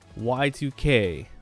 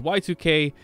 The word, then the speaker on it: YIIK: today's game I played y2k that's how it's pronounced even though it's spelled Y iik the two eyes are Roman numerals for two that's just the developers choice so it's y2k a post modern RPG